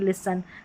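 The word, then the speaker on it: listen: है तो ठीक है एस टी रहता है तो यहां पर टी साइलेंट रहता है लिसन नहीं लिसन कास्टल नहीं कासल ऐसे तो टी नहीं पढ़ेंगे यू के साउंड्स देखें।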